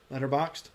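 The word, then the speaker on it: Letterboxd: that there is and it's called letterboxed boxed spelled with no e so boxd letterboxed and i actually quite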